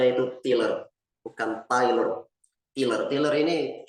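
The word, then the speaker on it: Tylor: jadi tulisannya itu t y l o r bacanya itu tiler bukan tiler tiler tiller ini dia punya karya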